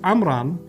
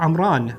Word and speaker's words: Amram: So the name Imran is originally Hebrew, likely pronounced Amram or Amran. So there's an M at the end or an N at the end, both ways that it's pronounced.